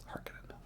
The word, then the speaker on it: Harkonnen: Oh, I said Harkonnen. It's Harkonnen, I think. Harkonnen. That's how they say it in this movie. Harkonnen, not Harkonnen.